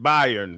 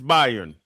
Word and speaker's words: Bayern: By Bayern. Byron. It's Bayern.